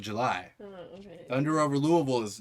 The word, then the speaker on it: Louisville: over Louisville.